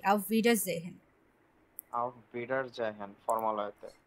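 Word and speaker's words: Auf Wiedersehen: না না আমার কথাটা শুনুন, ভে এটা, আর হচ্ছে এ ই পাশাপাশি বসলে ই এর মতো উচ্চারণ হয়। আউফ ভি, তারপরে ডা, এ আর একসাথে বসলে আয়ের মতো উচ্চারণ হয়। আউফ ভে ডা, এ সিঙ্গেল বসলে জয়ের মতো উচ্চারণ হয়, জেহেন।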